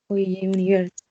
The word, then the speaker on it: university: Excuse me, university es como una Y, university.